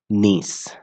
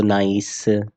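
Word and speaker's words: niece: आप उसको क्या कहोगे नीस आप पढ़ सकते हो उसको नाइस है ना बट नाइस नहीं नीस हम लोग पढ़ते हैं इसको प्रोनाउंस करते हैं क्लियर उसी तरह से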